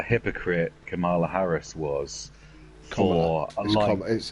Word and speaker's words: Kamala: Kamala Harris was for Kamala. It's Kamala. It's pronounced Kamala.